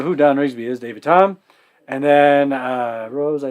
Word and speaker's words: Thom: find lots of David Tom it's a silent h t h o m and the barbecue Uncle